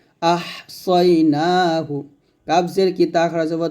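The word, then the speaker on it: أحصيناه: ওয়া কুল্লা শাই ইন, হামজা হা জবর আহ, সদ ইয়া জবর সই, আহ সই, সদ উচ্চারণ মোটা হবে, নুন খারা জবর না, এক লিফ টান, হা পেশু, আহ সই না হু।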